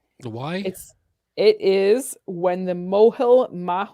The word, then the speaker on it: mohel: It is when the mohel, how do you say it? Moil. Okay, Viola.